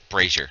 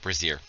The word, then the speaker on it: brazier: And it's brazier, not brazier. Brazier is what women wear on their tits.